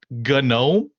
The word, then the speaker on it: GNOME: He's like, "Do you know you're saying it GNOME?" And I'm like, what are you talking about? He's like, "It's spelled GNOME, right?" I'm like, "Yeah, you know that's pronounced gnome, right?"